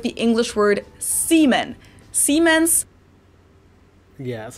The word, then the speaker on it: Siemens: Germans pronounce it with a voiced S, which would be a Z in English, Siemens, while English speakers pronounce it with a voiceless S. Siemens.